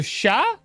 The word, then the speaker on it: chat: Oh no. Silent T. Oh, really? The silent T. So sha. It's just sha. That's the cat. There's no T.